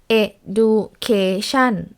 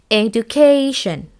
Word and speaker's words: education: For example, the word education, we won't pronounce it as education or like no stress at all, right?